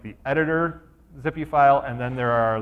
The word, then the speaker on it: XPI: If you are building out these files, XPI file, just pronounced zippy, you can do them as